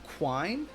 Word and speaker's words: quine: It is pronounced quine.